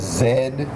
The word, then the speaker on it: zed: d Zed right but that's how they pronounce z Zed really C I learned